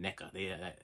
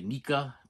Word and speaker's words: NECA: hard time saying that NECA. NECA, I believe, is the correct way to say it. People say Nika, NECA, or whatever. NECA. I'm pretty sure NEKA is the proper way to say NECA.